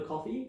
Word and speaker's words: Ko-fi: Yeah, we have a coffee. Uh I think it's coffee. Yeah, like as in buy me a coffee type of thing, which is spelled weird, which adds confusion, but tell me more.